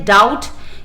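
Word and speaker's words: doubt: भी जी साइलेंट है, डाउट, इसमें बी, कुड, यू साइलेंट है, और वॉक में एल, और वॉक में एल साइलेंट है।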